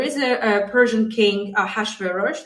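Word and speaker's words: Ahasuerus: a a Persian king a hash veros this is the way it's comfortable for me to pronounce his name and he had a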